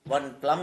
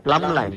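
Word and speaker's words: plumb line: We know this from the from the edge of the I plum line. One plum line. Plum line. Plumbumber. But we we don't pronounce B.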